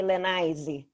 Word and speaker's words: Lenize: think you you you you'd like to to call me lanaisey something like this probably right probably i